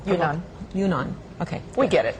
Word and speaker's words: Yunnan: Okay, how do you pronounce that? I said Hunan. Can you tell him? Yunnan.